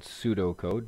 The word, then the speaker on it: pseudocode: a new topic called pseudocode not pursuit Oh code a P is silent now I'm gonna be